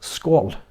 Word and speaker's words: skål: It's pronounced skål. Skål. So the O is like the O in all.